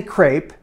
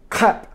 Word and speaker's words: crêpe: I'm trying not to say crepe. It's American pronunciation. I wanna stay far away from that today. So I'm working on my crêpe. Crêpe.